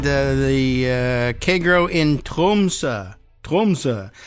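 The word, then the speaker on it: Tromsø: Trumsa is how I'm going to end up pronouncing. I'm going to roll that R a little bit too. I don't know whether they really do that, but Trumsa, the O with the slash in it is apparently pronounced that way. I went and looked that up.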